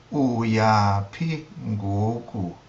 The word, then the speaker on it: uyaphi ngoku: For example, wena uyaphi ngoku. Uyaphi ngoku. Notice the low tone on the u, meaning you, or as for you, where are you going to now?